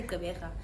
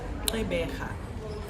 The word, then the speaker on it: Gqeberha: So if they can say that, then I mean, you can say Gqeberha.